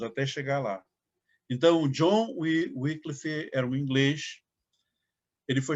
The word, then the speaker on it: Wycliffe: Nós temos essa figura de John Wycliffe. Alguns pronunciam Wycliffe, né? Mas eu aprendi Wycliffe, então eu vou ficar falando Wycliffe.